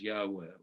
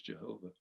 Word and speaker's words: Yahweh: the tetra y hw and and we know that the the safe way to pronounce it is Yahweh or anglicizes Jehovah but that's not the correct pronunciation and it was a